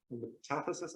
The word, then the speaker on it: metathesis: So there is a very famous reaction called metathesis. Metathesis? I actually don't even know how to correctly pronounce it in English.